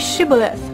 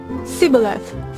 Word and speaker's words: Shibboleth: hell he loses she then says Shibboleth and he said sigilyph for he could not pronounce it right no kidding then they